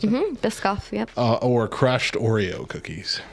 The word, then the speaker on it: Biscoff: Was that how you pronounce it? Biscoff, yep.